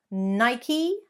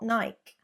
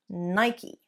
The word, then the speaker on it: Nike: 2 syllables, not 1. Elongate the E. Nike, not Nike. Nike.